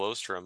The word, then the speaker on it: Oosterom: base on later and here he is Michael ostram Michael happy to have you here hey happy